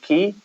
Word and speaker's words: Quay: is spelled qua y sorry not the American key which is spelled key y I didn't know that was special to all everyone yeah say I always wanted to call that Quay when I see it but I know that